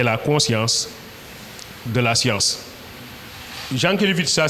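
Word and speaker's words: Jankélévitch: Jean Kevit ça s'écrit donc le prénom c'est Vladimir comme Vladimir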